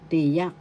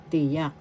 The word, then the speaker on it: tiyak: there are two kinds tiyak that is definite article tiyak firstable te Second syllable yak the second syllable has the accent so you pronounce this tiyak tiyak definite article example